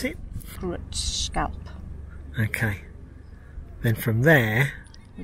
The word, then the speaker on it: Grindelwald: here, and it's gonna take us back to pronounce it? Grindelwald.